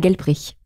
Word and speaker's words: Gelbrich: D'accord, je vais prononcer à l'allemande, c'est Daniela Gelbrich. Gelbrich.